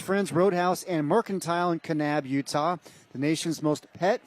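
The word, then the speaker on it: Kanab: Are you sure you pronounce that correctly? Canab. Yeah. Oh, yeah. It's not NAB. Canab. Okay. Canab.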